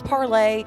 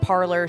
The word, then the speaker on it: Parler: It was Parlay, but everybody's stupid and kept calling it Parler, so they've literally changed their pronunciation the, or whatever.